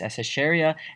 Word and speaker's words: Escherichia: You can say that I'm studying the genus Escherichia, and that's what I'm looking at.